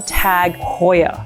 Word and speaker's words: TAG Heuer: And a lot of people say Tag Heuer, but it's actually Tag Heuer because of the H-E-U, Heuer, Tag Heuer.